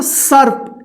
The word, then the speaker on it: सर्प: उससे पहले वाले अक्षर के बाद आधा र का उच्चारण कीजिएगा।